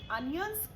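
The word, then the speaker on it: onions: please chop the अनियंस ओ एन आई ओ एन एस का pronunciation अनियंस को होता है ओनियन नहीं होता है प्लीज याद रखिए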